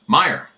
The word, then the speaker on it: Meyer: excuse me hello Steve my name is Meyer pronounced Meer I'm 45 now born